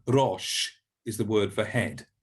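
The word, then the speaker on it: ראש: do in english but a little bit more role like in spanish or italian or other um continental languages so rosh is the word for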